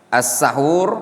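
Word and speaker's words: السَّحور: As-sahur bi fathis sin wa dhammiha. Lafad as-sahur boleh dengan menfathhas sin as-sahur, boleh juga mendhammanya. Kalau di dhamma gimana bacanya?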